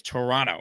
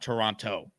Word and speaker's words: Toronto: Also, I just learned that it's not Toronto, as we Americans call it. It's Toronto. Like, there's no second T. So I learned a lot about Canada last night. It's Toronto, not Toronto, which I had no idea.